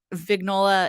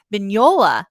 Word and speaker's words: Vignola: finish and you know vignola is asked I'm sorry I think I keep pronouncing her name wrong vignola because the G is slightly silent I just can't do